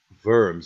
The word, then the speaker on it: Worms: with the Concordat of worms is how you pronounce it the in German W sound like a V for us and the I that